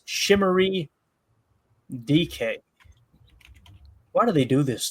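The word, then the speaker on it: Chimere Dike: Chamir Dyke is pronounced Shimmery DK."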